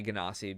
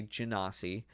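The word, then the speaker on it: genasi: is a uh my first ganasi i say ganassi because that's how it's technically supposed to be pronounced or some people say jinasi um but he is a fire ganassi he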